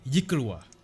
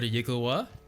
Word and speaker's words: yklwa: She beckons that servant to come forward and says, "This is called a yikulwa.